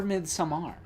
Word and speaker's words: Midsommar: Next up for a good movie we watched this year, we're talking about Ari Aster's sophomore film, Midsummer. Yeah, or Midsommar, as he pronounces it.